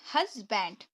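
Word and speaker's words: husband: पहले हम पढ़ेंगे हस, क्योंकि यू को तो आ पढ़ते हैं, मैंने बताया था। वैसे तो सिंपल है, आप लोग बोलते भी हैं, लेकिन मैं पढ़ने का तरीका बता रही हूँ। इसको आपके पढ़ेंगे हश, हश, ठीक है। उसके बाद आपको क्या पढ़ना है? BND, बैंड, हस्बैंड। कैसे पढ़ना है?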